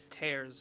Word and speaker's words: Tears: tares of the Kingdom I was pronouncing it tears in Korean got madame wow she's like Dad you didn't even play those games right oh she's like she's like Dad you'd know that it's not pronounced tears right wow I didn't know